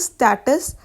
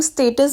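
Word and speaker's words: status: मतलब to lose स्टेटस, respect और Prestige. इसको हम स्टेटस भी बोलते हैं, बट जो इसकी करेक्ट प्रोनाउंसिएशन है वो स्टेटस है।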